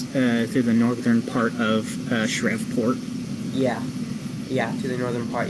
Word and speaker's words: Shreveport: I think it's pronounced Shreveport. Shreveport.